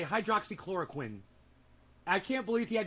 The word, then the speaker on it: hydroxychloroquine: You know, think of the guy from Dexter. Quinn. Chlorine. Hydroxy. Hydroxychloroquine.